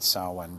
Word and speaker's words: Samhain: that i realized he is even talking about saawan because i didn't yet know the correct pronunciation of this term in reading up about